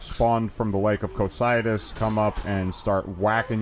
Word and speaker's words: Cocytus: Now, you Ultimately pronounce it precludes. Cocytus, but I've always pronounced it as Cocutus. But there's no Q in there. It's a Y.